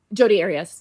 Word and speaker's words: Jodi Arias: Jodi Arias.